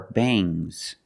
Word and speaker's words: bangs: When you have S after NG, it makes the nasal sound but it also makes a little G sound, but not a hard, strong G. These are bangs. Bangs. There's a little G, but it's not bangs. It's softer. Bangs.